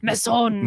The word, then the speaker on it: Masson: Like, yeah, you got to say it like it's French. Come on. Masson.